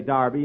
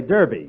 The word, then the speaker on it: derby: anita darby last saturday bill that's derby the english say darby and the americans say derby yeah and the losers